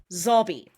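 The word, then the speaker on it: Szabi: And she shares this with Dani and, now, let me not mispronounce this because it's like Schwabi but not, Zobby. Zobby, I don't have a photo of him, but he is an older gentleman with a grey top knot, Sarah.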